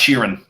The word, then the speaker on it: Sheeran: It's pronounced Sheeran.